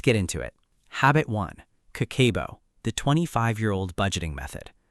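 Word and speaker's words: 家計簿: Habit one, Kakeibo, the 25-year-old budgeting method. The first habit is called Kakeibo, pronounced Kah-keh-boh.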